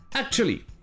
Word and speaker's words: actually: Mais très souvent, vous l'entendrez prononcer sans le son ou. Directement, actually.